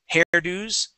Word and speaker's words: hairdos: And here, that S sounds like a Z. Cellos, discos, hairdos. Okay. We would not say hairdos with an S sound. It's a Z sound.